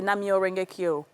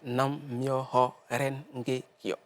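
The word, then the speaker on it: Nam-myoho-renge-kyo: Est-ce que j'ai bien prononcé Namyo Renge-kyo? Oui, c'est Nam-myoho Renge-kyo.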